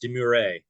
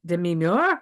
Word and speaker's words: demure: it's funny um and it's pronounced deure sorry right French um and he was like is it deim and she says no